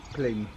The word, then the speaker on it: Glebe: How do you pronounce the farm? Glebe Farm or Glebe Farm? Glebe Farm? Yeah. Glebe or Glebe? Glebe.